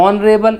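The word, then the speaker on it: honorable: ऑनरेबल H silent है, answer क्या होगा?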